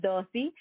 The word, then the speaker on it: Dossi: guys like most singers darcy pronounced like bossy grew up singing her